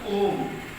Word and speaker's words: ohm: एक ओम का सिंबल है, ओमेगा है. इसको ओम प्रोनाउंस करते हैं, ओम पढ़ते हैं.